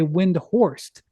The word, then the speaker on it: Windhorst: be honest with you my inclination is to say windhorst even though that's not you know the way my uh my grandmother on my father's side wanted to pronounce but like all the